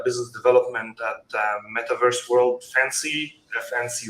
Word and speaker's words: FNCY: to introduce our project our project is fncy or pronounced fancy and it's our new